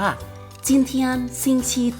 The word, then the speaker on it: 今天星期几: นี้ วัน อะไร ภาษา จีน ออก เสียง ว่า จิ้ม เทียน ซิง ชี ที่ จีน เทียน ซิง TG ก็ เรา จะ